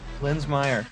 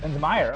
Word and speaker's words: Linsmayer: Linsmayer, yeah. Linsmayer.